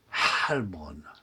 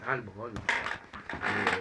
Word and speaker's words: Heilbronn: Il faudrait dire Heilbronn. Oui, mais en français, ça se dit voilà. pas. Non, mais on devrait prononcer comme ça. Oui, on devrait, monsieur H. Oui, Heilbronn. Heilbronn. On peut essayer, Heilbronn. Bon, le français a perdu le H.